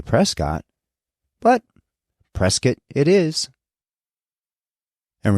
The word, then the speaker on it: Prescott: William H Prescott and yes William pronounced his name Prescott as was pretty typical amongst his Boston contemporaries from which he hailed and as I'd learned